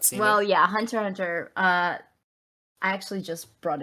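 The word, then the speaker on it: Hunter × Hunter: one thing i know you don't pronounce the x but yes i have not seen it well yeah hunter hunter uh i actually just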